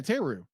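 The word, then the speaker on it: Therru: How do you pronounce her name? Teru? Yeah, Teru.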